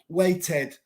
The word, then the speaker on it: waited: it correct porque esto is correct weights and waited now is waited waited no waited waited for against we pronounce the Ed waited so true so the